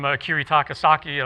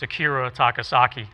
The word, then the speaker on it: Akira Takasaki: i i learned from kiritakasaki of loudness okay where you run your hand up and down that's clever right actually i said his name wrong it's akira takasaki okay sorry about that but